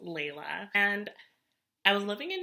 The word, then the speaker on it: Layla: It's pronounced Layla.